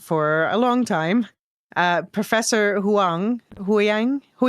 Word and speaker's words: Huyang: a long time, Professor Huyang. How do you pronounce that? I usually say Hu Yang.